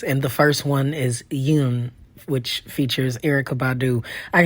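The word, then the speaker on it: 윤: So Yoon, you can think of it as Y-U-N-E for you English speakers, or if you needed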